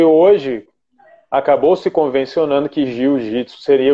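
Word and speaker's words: 柔術: enfim, como queira pronunciar, a pronúncia correta seria jiu-jitsu, né? Seria, se a gente fosse escrever, seria DJYU, mas isso é uma escrita que eu estou fazendo aqui para tentar fazer a pronúncia do que seria, né?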